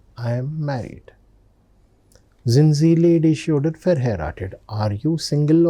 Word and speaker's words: ledig: Ledig. Ending is IG. Ending is IG. So that is pronounced as sh. So that's why ledig.